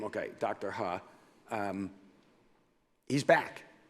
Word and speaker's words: He: Done, of course, rather quietly, because they recognized, and I believe he pronounces it Dr. Ha. Yeah, but sure. That's how he pronounces his name. Okay, Dr. Ha.